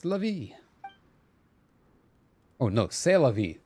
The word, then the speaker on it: C'est la vie: says lovey oh no C'est La Vie C'est La Vie there you go sorry you don't pronounce the T there you go there